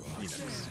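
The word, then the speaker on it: Fenix: It's pronounced Phoenix. Yeah, and that's why Marcus Phoenix's name is spelled that way. Yeah. The guy from Gears of War is spelled F-E-N-I-X.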